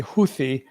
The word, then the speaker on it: Houthi: Arabic speakers and others say Houthi, sometimes with a slight rolled H at the start.